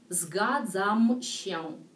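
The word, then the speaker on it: zgadzam się: Так, следующее слово «згадзамщен».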